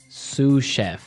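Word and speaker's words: sous chef: Sue chef. Sue Cheef. Sue Cheef. Sue chef. S O U S. So, the S is silent because it's like a French word.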